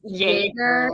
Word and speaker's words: Jaeger: From the Diary of Agnes Jaeger, even though it is with the J, it's the German pronunciation.